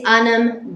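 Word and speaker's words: ainm: cod is anum dit. Perfect. Anum like as in Adam, anum, No, anum. anum. But same as Adam, but with an yeah, N. Adam with an N.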